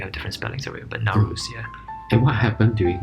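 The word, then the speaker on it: Nowruz: year period what do you call that anything now rules so it's spelled n o w r u z or r u s depending yeah you have different spellings sorry but now rules yeah and what happened during the rules uh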